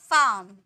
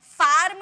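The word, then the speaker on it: farm: में प्रोनाउंस करते हैं जैसे कि फार्म नहीं बोलेंगे फार्म नहीं फार्म फाम पार्क डाक हाम यान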